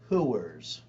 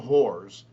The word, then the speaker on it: hooers: because the film industry is run by, as my grandmother would say, hooers, not whores, hooers. 2 syllables.